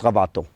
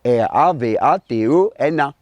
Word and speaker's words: Ravatona: Alors, si je prends comme référence Petit Frère, Alphonse Ravaton. Alors, si je dis Ravatona, mais en malgache, nous pas prononce ça à là. L'écrit R-A-V-A-T-O-N-A. Alors, Ravatona. Mais ici, nous disons Ravaton.